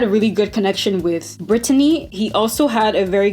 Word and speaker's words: Britany: say her name is not Britany it's not Britney it's Britany okay so I'm going to put some respect